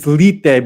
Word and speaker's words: lethe: and I talk about the word lethe, or it's lite because the eta is accented, so you got to pronounce it like a Latin I, but it means oblivion and forgetfulness or concealment.